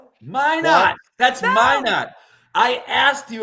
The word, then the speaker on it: Minot: Minot. That's my I asked you about May not earlier. Say it. It's They don't pronounce the T.